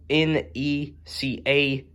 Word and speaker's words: NECA: Again, everyone, sorry I mispronounced Neck, everybody. Like I said, I got a bit of a habit, sometimes I have a bit of a bad habit of talking too fast like that there, so, sometimes I slow down whenever I try to pronounce Neck, And those of you who are familiar with NECA, everybody, they're spelled N-E-C-A, NECA.